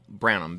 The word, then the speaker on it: Branham: r-a-n-d-a-l just one L brownham b-r-a-n-h-a-m the H is silent yep and also you